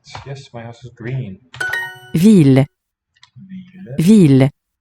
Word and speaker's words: ville: Ville. Ville. Ville. On a deep level, this is a two-syllable word. That final letter E is often dropped, though it is still heard when you sing.